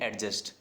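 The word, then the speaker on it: adjust: जैसे हम बोलते हैं एडजस्ट, वहाँ पे डी का साउंड नहीं होता, एडजस्ट। ठीक है, क्या होता है?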